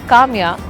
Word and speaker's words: Kamiya: Tamia, which is falafel, also rhymes with my name Kamiya.